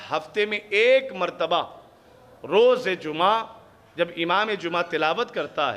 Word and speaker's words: جمعہ: پر بھی پیش ہے۔ اسی طریقے سے جب آپ جمعہ کہیں گے اور قرآن سے تلفظ اٹھائیں گے تو وہ ہے جمعہ، جیم پر بھی پیش ہے، میم پر بھی پیش